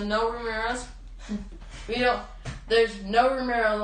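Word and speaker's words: Noé Ramírez: and you pronounce it it's spelled n o e and then Ramirez so no Ramirez we don't there's no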